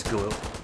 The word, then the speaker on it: Galil: Is that how you pronounce it? Galil? I always said yeah, Galil. It's Galil.